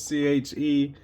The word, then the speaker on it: Chevalier: Kind of debatable, I guess, on how you pronounce it, but it's Chevalier.